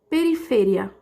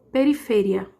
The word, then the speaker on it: periferia: Em espanhol, vai ser periferia, tá vendo? Eu mudei só a sílaba mais forte, mas tá escrito assim, igualzinho, e o significado é o mesmo, mas em espanhol ficou periferia, certo?